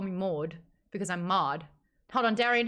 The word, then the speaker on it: Maude: My name is Maude, and no one can call me Maude because I'm Maude.